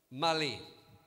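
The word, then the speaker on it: malaise: strange word it's pronounced the s is not pronounced mali do you understand what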